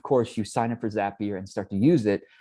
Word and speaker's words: Zapier: for french people it's zapier because they say zap literally their tagline is zapier makes you happier they they have that